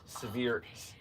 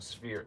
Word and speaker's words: Sphere: I was hoping I could get like the severe. I'm saying it wrong. Sphere, SPH. Sphere. Sphere 8.